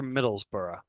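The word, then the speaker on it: Middlesbrough: so he plays for Middlesboro um just trust me that that's how it's pronounced I realize that's not how it looks we also see that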